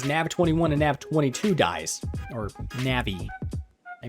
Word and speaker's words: Navi: More specifically, they'll be using AMD's NAV21 and NAV22 dies, or Navi. I mispronounced it.